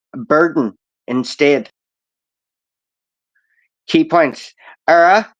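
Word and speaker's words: Éire: burden instead key points era is the correct spelling for Ireland with the father indicating a long e sound ER without the father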